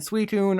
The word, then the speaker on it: Suicune: Unless you're one of those crazy people who called it Entei and Suicune, Entei and Suicune are all pronounced how you think.